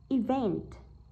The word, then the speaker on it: event: Vậy chúng ta thấy rằng event, đọc là event thì chắc chắn rơi vào van rồi, đúng không? Event, chứ không phải đọc là event, đúng không? Event, vậy trọng âm rơi vào âm thứ hai, rơi vào từ vent.